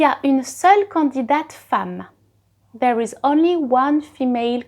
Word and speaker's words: femme: Now, a woman, une femme. So it is written with an E, but you pronounce it as if it was an A.